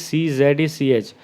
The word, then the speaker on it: Czech: Here you should note that the spelling of Czech is CZECH.